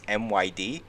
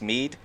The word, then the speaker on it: Myd: me i think it's myd and i think it's pronounced mead um it's called moving men